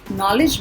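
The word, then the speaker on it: knowledge: Okay, but अभी हम first letter की बात कर रहे हैं तो इसके अंदर K साइलेंट है. नॉलेज मतलब ज्ञान.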